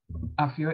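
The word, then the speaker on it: Aphia: F, it's and I would have gotten Afia correct because the F gives you the P-H sound.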